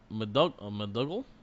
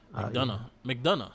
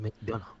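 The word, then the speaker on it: McDonagh: I kind of wanted Grimes to win, but it made more sense because in the end, JD McDougall. McDonough. That's how you say it. McDonough.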